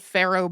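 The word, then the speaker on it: faro: Yeah, Pharaoh Bank is kind of interesting to me. It's spelled F A R O. It is meant to sound like Pharaoh, as in Egyptian Pharaoh, because apparently the French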